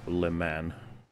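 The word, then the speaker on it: Le Mans: the correct pronunciation is Le man right you have to just say man that's how the French do it but the force is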